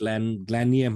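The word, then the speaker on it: Glanleam: You have the is it pronounced Glanliam House and Gardens? Glanliam House and Gardens, yeah, because of on the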